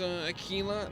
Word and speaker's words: Aquila: Oh, Dan, it's pronounced Aquila.